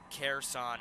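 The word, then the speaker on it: Kherson: uh krisson here son careson careson is the pronunciation thank you for that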